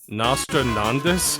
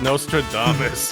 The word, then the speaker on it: Nostradamus: andas actually predicted elevator nostrandis I don't know I didn't know that word it's Nostradamus listen listen I